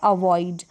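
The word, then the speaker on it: avoid: अब यहाँ पर आपको ध्यान रखना आई लिखा है, यहाँ पर आपको ऑई पढ़ना है, इसको ऑई है, ये करेक्ट कर ले इसको। अवॉइड, ऑई ऑई ऑई, ये जो ओ आई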